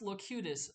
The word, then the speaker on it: Locutus: very very useful look cutest yes it is pronounced locutus for those of you that have never seen